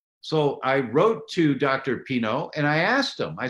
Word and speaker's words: Pineault: And it's because we have a very special guest, Nick Pineault. And Nick, am I pronouncing your last name correctly? It's like the wine, Pinot, like Pinot No.